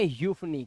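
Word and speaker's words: euphony: चलो अब देखिए ई यू, ई यू का उच्चारण क्या होता है, यू होता है सिर्फ, ध्यान रखना यू। जैसे देखो यहाँ पर एक वर्ड है आपके सामने, इनसे आप पहचान लोगे। जैसे देखो इसे पढ़ेंगे यूफनी, क्या पढ़ेंगे, यूफनी।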